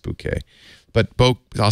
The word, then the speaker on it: bokeh: that's because the bouquet I always say bokeh because I don't want you to think of a bouquet of roses but it's pronounced bouquet but both I'll say